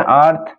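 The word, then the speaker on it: earth: এখানে আর্থ, উচ্চারণটা আর্থ।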